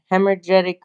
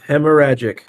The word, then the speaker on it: hemorrhagic: treated with chlorine dioxide isn't it like a hemorgetic fever hemorrhagic fever I mean whatever it's called I can't pronounce it right yep yeah word just like hemorrhagic oh yes that's the proper pronunciation we looked it up